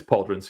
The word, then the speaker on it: pauldrons: show they put it yeah the leaf pauldrons puld runes how how do you even pronounce that it's pauldrons yes okay all right so that's essentially the